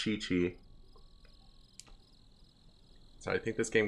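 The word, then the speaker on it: Qiqi: Qi is pronounced, but there's a character whose name is Q IQI and it's pronounced Chi-Chi.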